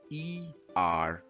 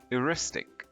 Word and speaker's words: eristic: First up, let's talk about this word, which is spelled E-R-I-S-T-I-C. This is pronounced as Eristic.